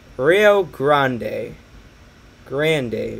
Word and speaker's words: Rio Grande: they're gonna get so mad at me it's pronounced grande rio grande day what was i pronounce it as grande jesus